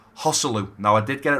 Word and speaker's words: Joselu: Moving on to this man here, now I was calling him Joselu, and someone said in the comment section, Brad, I think you might be pronouncing his name wrong, and I do apologise. It's actually Hosselu.